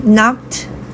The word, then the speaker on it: knock: 11번 She knocked on the door. knock에서 K 발음은 묵음이에요. 안 나요?